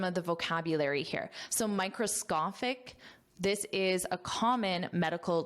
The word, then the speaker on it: microscopic: So microscopic, this is a common medical term. Microscopic, and notice that pronunciation because this SCO is pronounced as SCA.